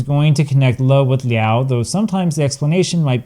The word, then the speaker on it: 了: Here it is pronounced leao. Now, there are so many compound words where it's pronounced liao that I can't possibly cover them all today.